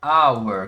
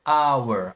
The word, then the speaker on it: hour: Hour, porque aqui esse hour tá começando com sonzinho de o. Hour, hour.